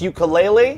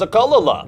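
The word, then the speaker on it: ukulele: this app for example did you know that it's pronounced you kele I always thought it was a Kala I've been wanting to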